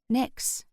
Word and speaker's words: Nyx: "Nyx," I said aloud, and I could have sworn the kitten gave a nod of approval. I pronounced her name to rhyme with tricks, as she seemed like a tiny trickster.